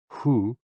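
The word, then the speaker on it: hoo: associated with the kidneys h o o pronounced like who which is associated with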